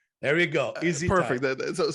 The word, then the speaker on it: EzyTise: So the spelling is a little crazy, but I figured that it was in order to phonetically get me to pronounce it correctly, So is the last it worked. Perfect.